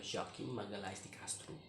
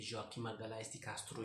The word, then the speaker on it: Joaquim Magalhães de Castro: Nah, buku ini ditulis oleh Joaquim Magalhães de Castro. Ingat, Joaquim Magalhães de Castro, bukan bukan Joaquim Magalhães de Castro, beda penyebutannya dengan Spanyol ya, soal pronunciasinya ya.